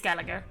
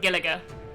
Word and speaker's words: Gallagher: think I think with with his accent it sounds like Gila but it's because it's it's it's gallager yeah but he pronounces it but he pronounces it giliga because of his accent